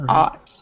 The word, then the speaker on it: ought: And ought is the AW sound.